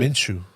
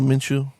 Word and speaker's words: Minshew: How do you guys pronounce it? Minshew. Oh, Minshew.